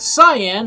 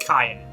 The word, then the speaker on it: Cyan: His name is Cyan, not Cyan like I thought for many, many years. It's pronounced Cyan.